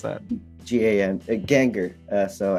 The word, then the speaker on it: Ganger: pronounce that g-a-n a ganger so I usually say gangster without without the St okay I was gonna